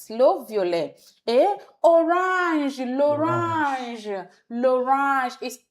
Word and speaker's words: violet: The T is silent. Le violet.